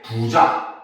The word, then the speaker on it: 부자: 부가 길게 발음이 됩니다. 첫 번째 음절에서 길게 발음이 되죠.